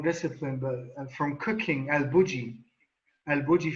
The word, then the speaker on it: El Bulli: But from cooking, El Bulli from Spain, pronounced in English El Bulli.